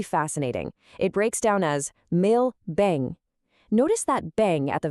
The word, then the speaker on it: meu bem: And the pronunciation here is really fascinating. It breaks down as meu bem.